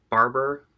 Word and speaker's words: Barbour: this barb or or someone told me on this old Saturday it's like Barbour I think is how it's pronounced it's like a UK